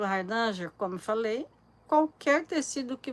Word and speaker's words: Hardanger: nome de hardanger né que a pronúncia correta é hardanger e a gente né a brasileira porque a língua já não enrola tanto então virou hardanger e você pode bordar